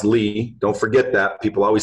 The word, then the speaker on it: Lea: which last name is which pronounce Li don't forget that people always say is that Lea and I said I don't know do you